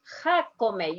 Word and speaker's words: Jacome: Jacome. You pronounce Jacome. every single letter. Jacome. Jacome. And the J goes like, very good.